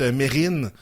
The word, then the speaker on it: Mesrine: Mais ouais, c'est ça- Mérine qu'on dit.